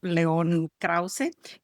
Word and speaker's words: León Krauze: Hoy tengo un invitado muy especial, un periodista sumamente conocido, León Krause. Creo que no estoy pronunciando bien tu nombre, tu perfectamente bien.